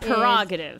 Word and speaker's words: prerogative: So that what was we got prerogative. is prerogative. Yeah, right. Prerogative. Yeah. The R in parentheses is a suggestion.